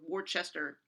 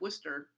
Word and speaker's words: Worcester: then the next year worcester i may be pronouncing that incorrectly or worchester sorry i'm from new england where we say worcester uh versus georgia um